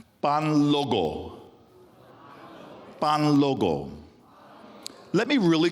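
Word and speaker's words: Kpanlogo: Pan logo. Pan logo. Let me really confuse you by spelling it. It's spelled capital K. Right. Right. P A N L O G O. The K obviously is silent.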